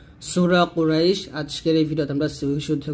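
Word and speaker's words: قريش: এখানে যদি কুরাইশ লেখছে তো উচ্চারণটা কুরাইশ বলবেন, এখানে আকারটা ব্যবহার করবেন না।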